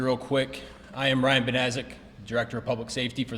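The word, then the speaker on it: Banaszak: I am Ryan Benazik, Director of Public Safety for the city of Sturgis. Last name is spelled B as in boy, A-N-A-S, Z as in zebra, A-K.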